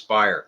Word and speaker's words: Speier: Cromartie shortstop Chris Speier I was used to calling Chris Speier but Jerry ball corrected me it's Chris Speier I remember that from